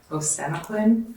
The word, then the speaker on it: Osenaquin: Osenaquin, Okay. it's the same Yeah, I as butchered it then.